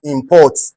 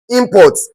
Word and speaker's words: import: One is import, the other one is import. Import, that is a what? That is a noun. Import, that is a verb. This is to show that verb must be stressed on the second syllable.